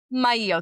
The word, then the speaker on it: Maillo: spending time with Mayo. Did I say it right? I got you nervous. Mayo, thank you. It's like Mario but not but like the same love and affection if you know what I mean.